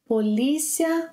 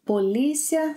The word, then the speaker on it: Polícia: Polícia, the same EE, Polícia Federal.